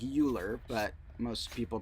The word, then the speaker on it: Euler: course but e was named after the mathematician Euler e-u-l-e-r looks kind of like Euler but most people pronounce it Euler um and he was one